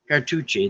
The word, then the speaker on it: Cartouche: what word we're on cartuchi that's right car like touch but with an E like tushy a car Touch Car touch e oh douche cartoons Cartouche